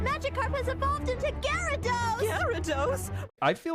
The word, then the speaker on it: Gyarados: season what is that its name isn't girados it's gados yeah but I don't think you pronounce that a it's garados g y a r a d o s Gyarados Gyarados but I don't